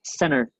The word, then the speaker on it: center: Sí, acuérdense que para eh que esta palabra, la primera es center, ¿sí? No, no cent con con una t fuerte, sino que la t vuela.